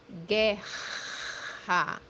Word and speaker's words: guerra: The example that we have here is the word war, which means in Portuguese guerra, guerra, guerra, guerra. As you see, the digraph RR or RR is pronounced as H in English.